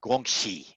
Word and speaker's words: guanxi: pronouncing mandarin as a guanxi so when you see x i think of shin shi it basically means how